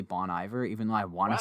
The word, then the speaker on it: Bon Iver: who bony there is isn't that bon iver i to say i want to say it like that i want to say bon iver because i feel like some wanna be like tryhard music person saying boney bear but no it is bony bear through and through yep